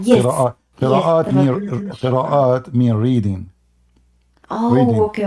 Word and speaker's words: qira'at: What does karats mean exactly? What is Yeah, what? I'm not pronouncing well, but it's karat. It says that these are the Quran, the like You mean the variations qira'at.